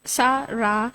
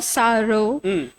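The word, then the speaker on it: שרה: In Hebrew, the name Sarah, pronounced Sarah or Saro, with the final H letter.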